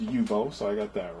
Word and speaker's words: Uebo: that thing that looks pretty sick uh it's pronounced yubo so I got that right it has Play